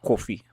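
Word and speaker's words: koffie: Africans would be coffee, which is like coffee. Just pronounced coffee.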